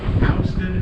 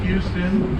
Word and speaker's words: Houston: like that is Soho stands for south of Houston Street Houston is the correct pronunciation it looks like Houston to many people it isn't that's a different